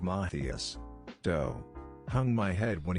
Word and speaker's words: Matthias: matthias's name i realized i had been pronouncing it wrong in my head the entire time math use instead of mathias doe hung my head